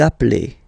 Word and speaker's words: appelez: Vous appelez. Okay, so you can hear we put the little link again here. Vous appelez.